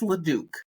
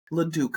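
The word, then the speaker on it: Leduc: funny or is like I think how they actually pronounce it so it's luk luk Alberta anyways I digress I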